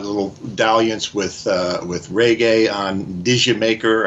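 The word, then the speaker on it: D'yer Mak'er: You've got little dalliance with reggae on Digi Maker, or however you say that. I'm not British, but I understand this. Is that how you say it, Jamaica? Jamaica, yeah.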